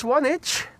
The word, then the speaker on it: Swanage: Keith is also in the chat greeting us from how's that pronounced? Swanich. Swanage in the UK.